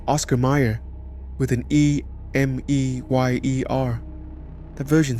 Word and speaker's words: Mayer: The name has always been spelled with an A, even if it sounds like an E when spoken aloud.